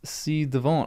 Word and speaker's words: ci-devant: Pronounced ci devant.